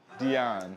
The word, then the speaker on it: Dian: Dion. Yes, please. Okay. Okay. Spell it for us.